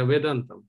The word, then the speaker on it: Vedantham: Am I pronouncing it correctly? No, you're almost right, yeah, Vedantham.